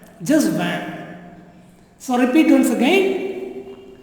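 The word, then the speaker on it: vingt: Winked? No. Banked? No. It is van. Okay, not winked. Neither it is wanked. T is silent. So van. Just van.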